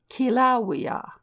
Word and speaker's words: Kilauea: with the italian sound the volcano is pronounced as if spelt kilauea and kawaii as if